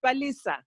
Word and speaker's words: Palisa: Let's go to Palisa. Palisa, I know I probably said your name wrong, but can you help me out and tell me? Palisa. Hey, Tuanni. Yes, it's Palisa. Oh, I said it right.